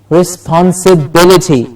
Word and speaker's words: responsibility: rest on us the responsibility absolutely responsibility the penalty gets the stress risk and sit at the same level and then bility goes up responsibility responsibility let me